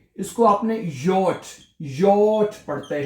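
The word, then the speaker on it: J: है जे है जो है उसको यट पढ़ते हैं जर्मन जुबान में और आपने ये की आवाज से इसको प्रोनाउंस करना है।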